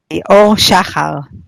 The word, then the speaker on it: Shahar: Our super awesome guest for today is Shahar. Or am I pronouncing your surname correctly? Yeah, that's not that easy. Shahar would be the right pronunciation, but it's very hard, I know.